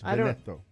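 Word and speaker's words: Veneto: how to say it it's either Veno or vetto how do you spell it v n t o vetto You're it you're Italian you no it's vetto vet and uh Joe said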